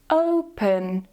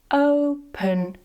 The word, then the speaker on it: open: Next, is the letter "e" - "open". So, not "op-en", "opuhn", "open".